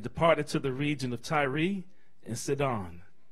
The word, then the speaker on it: Tyre: It says, "Then Jesus went out from there and departed to the region of Tyre and Sidon," or Tyre, which is probably the better pronunciation.